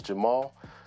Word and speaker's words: JVMAL: It might look like a V, but it's just A upside down.